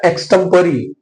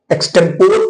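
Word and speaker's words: extempore: तो what we will call that particular speech, उसको कहते हैं बेटा एक्सटेम्परी। कुछ लोग उसको एक्सटेम्पोर पढ़ते हैं, लेकिन सही प्रोनाउंसिएशन उसका एक्सटेम्परी।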